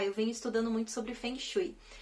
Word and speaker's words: Feng Shui: passado para cá eu venho Estudando muito sobre Feng Shui e sem Shui o falso Ei como algumas